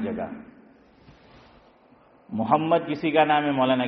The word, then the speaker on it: محمد: صحیح اس کا تلفظ جو ہے وہ کرو, اور صحیح تلفظ بھی محمد میم پہ زبر نہیں ہے, کیا ہے, میم پہ ضمہ ہے, میم پہ پیش ہے, تو پیش پڑھنا ہے.